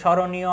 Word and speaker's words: স্মরণীয়: স্মরণীয় আত্মা এইযে স্মরণীয় প্রথম আছে। স্মরণীয় এখানে কি মাফলার কোন উচ্চারিত হচ্ছে না।